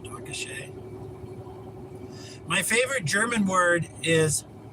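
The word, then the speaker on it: danke schön: Dankashe. I think that's how you say it. Dankashe.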